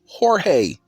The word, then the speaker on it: Jorge: Just like the name Jorge, the J is silent.